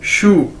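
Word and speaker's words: 叔: Side में देखें SHU, शू। ये चाइनीज वर्ड है, इसको कैसे प्रोनाउंस करेंगे, जिस तरह हम बोलते हैं जूते को इंग्लिश में शू, एक जूते को कैसे बोलते हैं, शू, SHU, शू।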